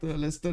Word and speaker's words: Leicester: Wait, this is Leicester, right? This is how you pronounce this city.